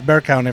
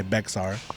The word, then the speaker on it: Bexar: No, it's perfect because obviously, it's Bear County for people that are not from San Antonio. Yeah. We're in Bear County. It's spelled Bexar. Yeah. So whoever is not from here will say Bexar.